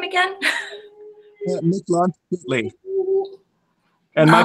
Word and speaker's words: Mictlantecuhtli: Mictlantecuhtli. And my pronunciation is far from perfect.